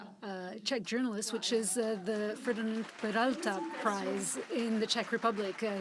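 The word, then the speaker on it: Ferdinand Peroutka: And recently you received the most prominent prize for Czech journalists, which is the Ferdinand Peralta Prize in the Czech Republic.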